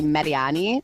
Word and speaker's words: Mariani: my guest today is indy88 midday host Melanie Mariani did I say your name right by the way you know what's funny is that I always say Melanie Mariani but in Italian it's actually mediani so you were right so you're joining me